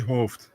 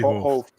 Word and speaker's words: Hooft: It's Henry Hooft. Henry Hooft.